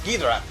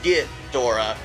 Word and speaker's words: Ghidorah: called him and when you hear it actually pronounced in Japanese it is almost like a gor but it's very quick it's gidra and uh that's how they say it I never hear g Dora g Dora I that's only kind of in